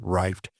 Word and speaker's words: RYFT: It seems like no matter which voice I use, it says rifted. And that's because the spelling is R Yft. But it really is just plain old rift.